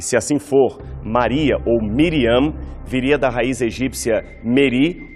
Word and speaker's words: Miriam: Aliás, esta é a forma mais contrata do nome conforme a pronúncia grega, pois na língua original de Jesus, o nome Maria era pronunciado como Miriam.